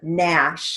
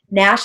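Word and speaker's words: gnash: we have the word nash that's like a verb to grind one's teeth together as a sign of anger nash has a silent g so we're going to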